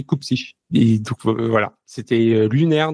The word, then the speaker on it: Cupcic: minutes à me dire non c'est pas Cupsique, c'est Coupsich.